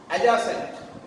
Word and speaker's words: adjacent: D is not pronounced here. Here again, adjust, not adjust. Adjust. Adjourn, not adjourn. Adjacent, not adjacent. These words are pronounced with the ja sound.